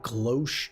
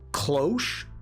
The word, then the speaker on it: cloche: Glosh sounds like a K. Hosh? As in causal? But it's still K clo closh?